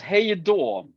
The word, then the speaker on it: hej då: It's hej då. Like hey dawn. You say that hey dawn. Hey dawn. Like do. Hey No n. Hey like door like the door at your house.